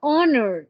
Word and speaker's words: honor: primer sonido yo digo honor mire por ejemplo la palabra honor empezaba con la H sin embargo yo no la voy a pronunciar Esto es algo diferente